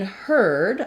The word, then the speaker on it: heard: gliding together so in heard I heard about it uh that is the same pronunciation as heard a herd of animals and in the dictionary